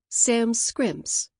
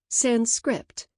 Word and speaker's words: Sanskrit: Walt Kelly's pogo used to use the word Sam scrimps to describe highulutin double talk or manipulative twaddle. Many Euroamericans mispronounce it sanscript implying that it is a language without sans an intelligible script or sand script with overtones of ruined